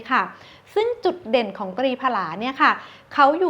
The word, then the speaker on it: ตรีผลา: ซึ่ง ก็ คือ ตัว ตรี ผลา นะ คะ ซึ่ง ตัว ตรี ผลา เนี่ย ค่ะ หรือ ว่า บาง คน อาจ จะ อ่าน ว่า ตรี พลา ก็ ได้ นะ คะ ซึ่ง สาร สมุนไพร